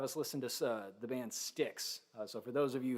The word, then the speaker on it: Styx: By the way, it's spelled S-T-Y-X. For those of you who don't know, you're never going to find it if you try spelling it the typical way.